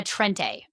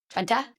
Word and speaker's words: Trenta: Her exact order and a Trente, which is that how you say it? Trenta, the largest size.